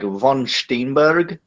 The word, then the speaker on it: Van Steenberge: I'm not Dutch, but I am like a kind of German dialect of German, and we pronounce it like von Steenberg, kind of.